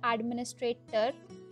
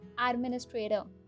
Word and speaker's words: administrator: It's not administrator, it's administrator. Administrator.